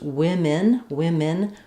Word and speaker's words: women: So even though we spell this with an O and an E, it doesn't sound like men, it doesn't have an O sound. It's pronounced women with 2 I sounds.